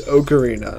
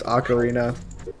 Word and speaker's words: ocarina: he was saying yeah it's okarina not Ocarina haha you're wrong and then I went and looked it up it is pronounced acarina and I don't know